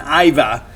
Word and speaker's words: Iva: That's the correct pronunciation, Iva.